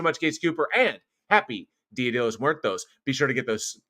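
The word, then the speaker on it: Día de los Muertos: And happy Dia de los Muertos.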